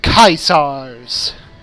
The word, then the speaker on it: Caesars: Of the Caesars. That's how you're supposed to pronounce it in Latin.